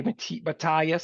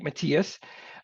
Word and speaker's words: Matias: it so people say mat bayas some people say Matas but you said it right Matias um I was born